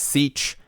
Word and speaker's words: sech: One way to pronounce them is secant h as sech, cosecant h as cosh, and cotangent h as cosh, but there are other ways to pronounce them for sure.